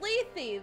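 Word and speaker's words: Lethe: i'm not doing this how to pronounce lith leafy it is greek leafy it's leafy leafy river okay well now we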